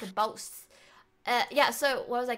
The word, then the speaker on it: Bose: I don't even know if I'm pronouncing it right, but Is that Boss? Boss? Oh, it said Boss. Yeah. Boss. Boss, Sorry, Bose, I'm a Bose.